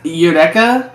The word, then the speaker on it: Eureka: Oh, Erica 7 came out 2005. Okay, Kind of heard of that. Eric? Erica 7's Eureka 7. Is it not Eureka? It's pronounced Eureka, which is weird.